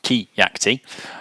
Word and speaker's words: Keact: My name's Keacte. It's pronounced Keacte.